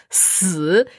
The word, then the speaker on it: 四: Bien prononcé au 4e ton.